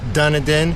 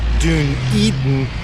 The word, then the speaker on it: Dunedin: I figure what better place than a visitor center to tell me the correct pronunciation. It's not Dunedin, it's not Dunedin, it's not Dun- Eatin, it's Dun Eatin.